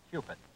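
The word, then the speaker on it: Cupit: most likable youngster cupid spells his name c-u-p-i-t he says if you want to remember how to say it properly just remember cue stick like in pool it's cupid winner of two tour championships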